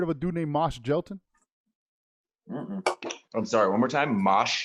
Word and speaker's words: Jelton: Mosh, MOSH, space Gelton, like Melton, JELTON, versus, and he's actually a battle rapper from the old school grind time days, and he grew up and stuff.